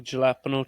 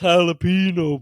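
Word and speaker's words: jalapeño: galapo chips yeah and bubble's trying to tell him that it's a silent h yeah he's like he's like what flavor is that jalapeno what flavor is that it's pronounced jalapeno bub like I know how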